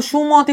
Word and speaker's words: সুমতি: কিভাবে? সুমতি, তুমি কিন্তু সুমতি বলছো, তুমি কি বলছো? সুমতি।